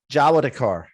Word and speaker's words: Jawadekar: place but my guest today is dr mack javadekar did i pronounce that right doctor yeah yeah you got